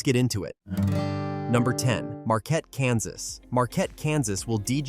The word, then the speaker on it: Marquette: Marquette, pronounced Marquette, not like the furniture store, is classic small-town Kansas.